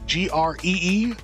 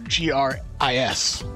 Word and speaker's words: Gris: Have y'all played this game called Gree or Gris? How would you pronounce it? G-R-E-E or G-R-I-S? I don't know. I think it's pronounced G-R-E-E.